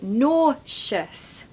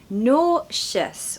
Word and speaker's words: nauseous: so it's just nor so n a w type of sound nor and then there's a schah in the second syllable which just to remind you again is uh uh so naous nous we must stress the